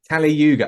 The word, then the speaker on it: Kali Yuga: okay so so let's start at the beginning Cali Yuga am I pronouncing that correctly yeah excellent excellent would you